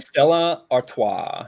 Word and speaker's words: Stella Artois: Is that pronounced Stella Artois, even though it's spelled Artois? Is that Stella Artois?